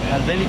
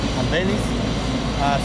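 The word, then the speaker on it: Albenis: Albéniz. How do you spell it in Spanish? A-L-B-N-I-S, Albéniz, C-A-S-T-I-L-B-L-A-N-C-O.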